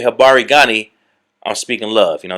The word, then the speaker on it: Habari gani: And there's certain greetings you can say, like there's a greeting called Habari Gani. Habari Gani.